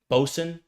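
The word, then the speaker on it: boatswain: Botswain. How do you pronounce that? Bosen. Yeah, Bosen.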